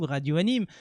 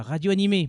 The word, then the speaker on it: Radio Anime: Donc, la question s'adresse à nous, Radio Anime. Attention, pas Radio Animé. Beaucoup de personnes font l'erreur. Je sais que normalement, c'est comme ça qu'on doit le prononcer, mais bon, c'est pas moi qui ai créé.